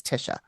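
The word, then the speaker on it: Tysha: client is named Tisha it is spelled t-y-s-h-a though okay like Taisha but it's Tisha something is attacking her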